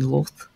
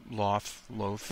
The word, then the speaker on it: Lolth: He mentions that she's a priestess to the Spider Queen Lolth. I think I'm saying that right? Loth. Loth. Yeah, Okay. It was kind of a weird word. I'll say Loth though.